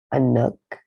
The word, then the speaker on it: Anuk: A nook, a nook, a nook. Can you spell that?